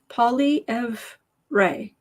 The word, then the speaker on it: Poilievre: Sherry says it's pronounced Poilievre. Poilievre.